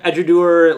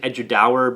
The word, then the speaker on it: Edradour: know what you think i'm finally pronouncing it right i think i said edudower before and got called out uh eduard i think is the way you pronounce it let me know if